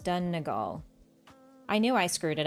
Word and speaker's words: Donegal: It's pronounced Donegal. I knew I screwed it up. Donegal?